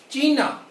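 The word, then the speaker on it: China: टी एयर कॉम आउस चीना चाइना नहीं इंग्लिश में चाइना कहते हैं हिंदी हिंदी में चीन बोलते हैं लेकिन जर्मनी में चीना चीना जी टिंकन कफे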